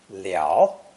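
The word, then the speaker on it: 了: legs tightly bound inside pronounced either third tone liao the infant is completely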